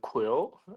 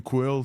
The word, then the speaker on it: QwQ: it in the blog it is just like the word Quil yeah yeah because for the qw you can like what and for the Q and you just like the U so I just combine it together and create a new pronunciation called quill yeah so we're saying